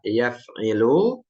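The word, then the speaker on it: يَفْعِلُ: Kemudian ada yang ketiga fa'ala yaf'ilu, ini ainnya kasrah.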